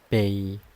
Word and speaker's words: bei: We pronounce it ba ba.